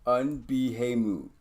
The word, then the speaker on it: Unbehamut: Unbehamut. Yeah, that's what we came up with. Unbahamut. Yeah, nope. Unbehamut. Phonetically, exactly the way it's spelled.